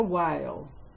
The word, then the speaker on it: whale: There was a whale. W, silent H, A as in cake, L.